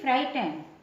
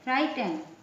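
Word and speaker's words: frightened: भयभीत की इंग्लिश होगी फाइटन एफ आर आई जी एच टी ई एन फाइटन जी एच जो है वो साइलेंट भक मीस फाइट मजाकिया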